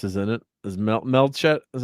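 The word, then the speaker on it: Melchett: Fry of course is in it is meel melet is how you say Name Lord melett yes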